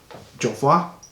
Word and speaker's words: Jovoy: It is by the house of Jovoy. That's how it's pronounced.